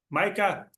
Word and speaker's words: Micah: to thank you uh Micah for did I say it right now I'm like oh yes you got it for for joining me